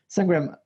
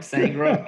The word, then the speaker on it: Sangram: Sangram, am I pronouncing well your name? You got it, man. I'm trying to go for just one name like the Beyonce, so like Sangram, and people remember.